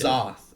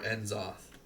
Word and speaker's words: N'Zoth: If you go there, you can take the poll on how is it pronounced, N'Zoth or Enzoth. It's definitely N'Zoth.